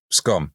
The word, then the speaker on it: Scone: That's the word scone, but pronounced so it sounds the same as it's gone.